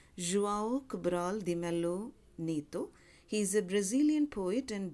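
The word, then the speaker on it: João Cabral de Melo Neto: in about the poet his name is pronounced as have got from different sources because it's a Brazilian name it's pronounced as Guaraldi Melo Neto he's a Brazilian poet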